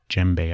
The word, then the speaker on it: djembe: A lot of those native African drums, djembe, I believe is how you pronounce the type of drum that he uses mainly.